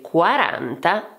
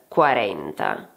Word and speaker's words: quaranta: For example, remember that in Italian we say "quaranta" and not "quarenta*".